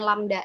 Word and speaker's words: lambda: frekuensi, satuannya hertz, lambda, ini bacanya lambda ya, LAMDA, lambda, panjang satu gelombang.